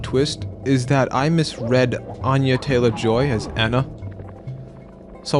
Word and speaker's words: Anya: You said Anna last time and then I went back and turns out no it was never Anna.